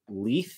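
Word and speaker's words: Leith: So right in my wheelhouse, this is the colorway Leigh, like spelled like Keith, but with an L, L-E-I-T-H, Leigh.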